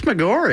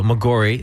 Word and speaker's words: Maggiore: I think it's Maggiore. I think it's mispronounced, actually. Yeah. Okay, there you go, Maggiore.